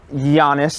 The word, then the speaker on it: Giannis: Anyway, Dame Lillard on the Bucks now with Giannis. It's a soft G. With a Y.